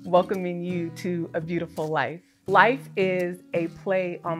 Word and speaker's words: LYF: And so in alignment with my name, I have created an acronym called LYF, Love Yourself First, which is pronounced life.